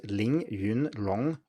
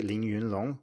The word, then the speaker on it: Ling Yun Long: Another example is my Chinese name, which is Ling Yun Long with 3 second tones. And most people don't say Ling Yun Long with 3 second tones